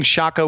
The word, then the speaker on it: Shaka: But it was a mispronunciation of what he intended. He intended to be like the Zulu King, Shaka, whatever. Shaka the Zulu King.